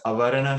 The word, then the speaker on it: avarana: veiling and projecting yeah so the veiling is avarana shakti so a v a r a n a is how you would spell it and the projecting power is viktor uh